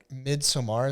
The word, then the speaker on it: Midsommar: Midsommar is how it's pronounced?